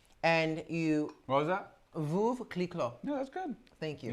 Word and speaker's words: Veuve Clicquot: Veuve clicquot. No, that's good. Thank you. You said it right, I must say. Veuve clicquot.